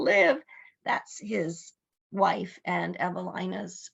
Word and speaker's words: Evelina: that's his wife and evelina's or Evelina I tend to give it the British pronunciation because that's just how I was taught but you can say Evelina too either one is fine and uh and then